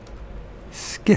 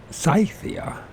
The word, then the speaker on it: Scythia: know let's find out skia p find out pronunciation cyia scythia skia s pronounced scythia I turn believe in that but if they say so scythia it's scythia scy why can't uh